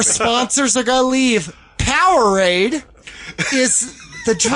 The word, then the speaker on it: Powerade: Powerade is the drink. Power thirst. You're saying it wrong. Power thirst. It's Powerade.